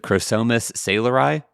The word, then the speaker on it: Chrosomus saylori: So it's scientific name is and I'm going to probably mispronounce this but Chrosomus saylori?